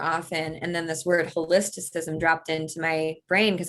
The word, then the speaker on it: Holisticism: i don't know why i can't pronounce it holistism holisticism yeah you're just missing one it's a made-up word